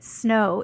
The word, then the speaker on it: Snowe: just love it yes the E is silent and is my real